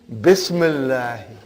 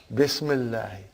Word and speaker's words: bismillahi: If you took out B, how will you pronounce now? Ismullahi. What will you say? Ismullahi. Bring B, Bismillahi. Bismillahi.